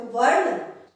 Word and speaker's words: वर्ण: वर्ण, तो इसमें र का उच्चारण पहले होता है, तो वर्ण, ठीक है।